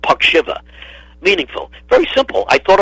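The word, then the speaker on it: Puckzyva: y's in the spelling you know but it's pronounced pakshiva p-u-c-k-z-y-v-a something like that now how in the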